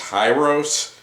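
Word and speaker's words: Hirose: it says these are i believe it's pronounced hi-ros style connectors and i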